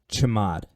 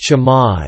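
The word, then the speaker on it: chmod: pay very close attention I call this command chamod I don't know how it's actually pronounced but I call it chamod okay I just looked it up and it is actually pronounced jamad and it stands for change mode which is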